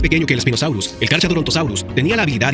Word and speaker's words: Carcharodontosaurus: Primero y principal, no se pronuncia Carcharodontosaurus, se pronuncia Carcharodontosaurus. La H es muda, por lo que es Carcharodontosaurus.